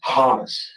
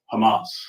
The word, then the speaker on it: Hamas: Hamus. Hamas.